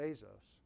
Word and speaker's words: Bezos: So it was May 15th, 1997, is when Jeff Bezos, I've been saying his name wrong for a long time now, Bezos, when he took his company public.